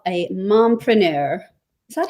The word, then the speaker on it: mompreneur: Tiffany Hamilton, who I'm going to call a mompreneur. Is that how you would pronounce it? A Yes. mompreneur.